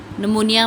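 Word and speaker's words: pneumonia: जैसे इंग्लिश में नॉलेज में के है, नमूनिया में पी है, ठीक है। ऐसे होते हैं ना अल्फाज कि वो उसकी आवाज़ स्किप होती है, साइलेंट होते हैं वो।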